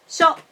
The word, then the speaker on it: 書: So the difference between these two words is on the length of the last vowel. Shou has 2 molar. Shou has 1 molar.